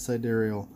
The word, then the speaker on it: sidereal: side aerial you know I don't know how to pronounce that word sidereal side aerial so Jerry okay iseman says its side aerial but so one time